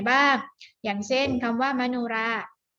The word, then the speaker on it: มโนราห์: อย่าง เช่น คำ ว่า มโนราห์ มโนราห์ มี หอย อีก อยู่ ๆ ใช้ กรรม แล้ว ก็ มี การันต์ นะ คะ อ่าน ว่า มโนราห์ หอ หีบ ตัว นี้ ไม่ ออก เสียง ค่ะ เพราะ มี ตัว การันต์